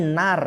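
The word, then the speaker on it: نار: nuriadidatan dan membutuhkan ya bukan Nur ya di sini ada Nur terus membacanya tapi Nar ya di situ yaan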